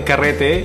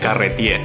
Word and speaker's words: carrete: So it's ca again, like California, re, as in Republic, te as in tequila, carrete, carrete.